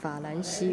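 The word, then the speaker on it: 法兰西: Fa lan xi bu liang song. France. It's a pronunciation of France. Fa lan xi. But in Chinese characters.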